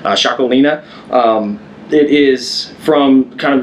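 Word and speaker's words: Txakolina: is called chaki and it's spelled crazy it's TX a o l i n a shakina um it is from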